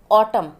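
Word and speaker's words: autumn: ऑटम, N silent रहेगा।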